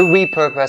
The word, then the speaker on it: repurpose: be aware of here the first one is upon the first syllable so we re notice that it has the long e sound and not the short one and for that you